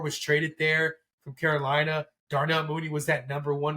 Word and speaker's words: Darnell: tonight actually not too long ago and it's darl money there I think I'm saying his name right Mooney he Darnell I'm sorry I said I knew said his name wrong Darnell money there uh he had you know he